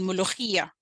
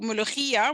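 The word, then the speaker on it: mulukhia: cooked this amazing dish called mulugia and it's just m-u-l-u-k-h-i-a right but of course is a difficult sound if you don't have a mother tongue that that pronounces that sound so she and her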